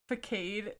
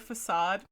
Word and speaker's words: facade: that one time i accidentally said uh vacade instead of facade i had a friend